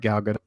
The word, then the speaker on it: Gal Gadot: looks a lot like Gal Gadot there in the background. And yes, some of you at home, yes, that is actually how you say her name.